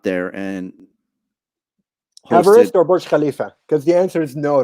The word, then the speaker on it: Burj Khalifa: I can't pronounce it. Burj Khalifa.